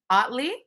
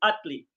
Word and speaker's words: Ottley: four today i am joined by dr otley did i say that right you said it right it pronounced like you utley utley i said it right well welcome thank